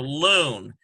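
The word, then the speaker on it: לון: And we have L sound, U sound, and N sound. We've got a nun suffix, so loon.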